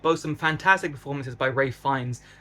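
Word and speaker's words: Ralph Fiennes: The second half is a bit slower, but boast some fantastic performances by Ray Fines, which is the correct way to pronounce it. I've been saying it wrong, who adds a little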